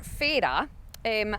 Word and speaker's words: Fara: Fara, or Fay-ra, as the locals call it, the correct pronunciation.